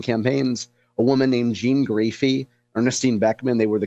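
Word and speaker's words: Graefe: Jean Graphy.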